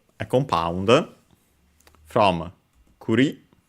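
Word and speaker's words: 栗: First we have uh it's a compound from kuri uh accented on the last syllable on its own which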